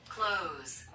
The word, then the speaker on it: clothes: Clothes. clothes. Clothes. clothes. 발음은 클러즈 이렇게 해주고 우리 뜻에는 여기가 막 얽혀서 해서 엄마 클러줘 이렇게 하는 거야.